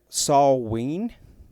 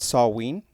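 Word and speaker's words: Samhain: Europe they celebrated a festival that they called saw ween I think that's how you pronounce it saw ween and the purpose of this festival was to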